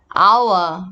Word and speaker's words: hour: Okay, so example, silent egg like our. hour, right? So if start letter H, we need to use with and also an hour.